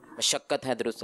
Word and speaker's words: مشقت: مشقت ہے درست. جی مشقت. میم کے اوپر کیا ہے؟ زبر.